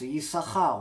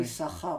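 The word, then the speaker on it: יששכר: Malgré qu'on ne le prononce pas, on prononce seulement une lettre.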